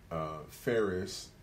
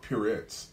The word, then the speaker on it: Peretz: Judas and his brethren, and Judas begot Phares and Zerah of Tamar. Phares was, or Peretz is how it's pronounced, was the breach.